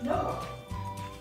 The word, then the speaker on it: Knorr: Knorr. It rhymes with door. This is Knorr vegetable recipe mix.